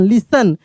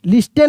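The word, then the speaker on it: listen: एस टी ई एन लिसन यहां पे T silent है लिस्टेन नहीं लिसन टू मी लिसन टू मी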